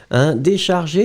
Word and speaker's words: décharger: Remember that the accent aigu should be there. This is the reason why we pronounce it décharger.